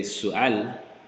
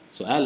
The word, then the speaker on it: سؤال: But you mean to say su'al. Su'al is a question. This doesn't mean the same thing, right? So if you make the mistake of pronouncing this like ayn, heavy, su'al, right?